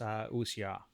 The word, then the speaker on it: wuxia: And I'd like to be honest, I had to look up the pronunciation of that correctly. Yeah, you got the pronunciation correct, because I've heard it pronounced incorrectly many times.